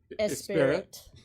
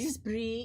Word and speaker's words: Esprit: It's not pronounced Spirit. Well, I remember the Isn't it store. Esprit? Esprit, yeah.